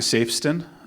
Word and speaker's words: Safston: My name is Safston. Uh my name is not pronounced how it looks. It kind of sounds like saves $10.